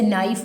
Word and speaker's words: knife: जैसे नाइफ word, नाइफ की spelling होती है ना KNIFE नाइफ, तो नी KNEE नी, तो